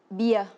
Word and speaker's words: bia: Ces boissons en vietnamien se dit bia, qui se prononce bia.